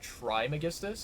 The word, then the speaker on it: Trismegistus: I feel like there might be a different pronunciation of that, where they say Trimegistus instead of Trismegistus, but I don't think it's, like, that crazy important.